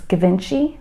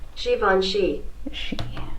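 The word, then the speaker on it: Givenchy: Season editing Kristen here have I been mispronouncing Joni as gavinci for the past two decades yeah absolutely uh thanks Google Z voni Shivan Shivan just a little friendly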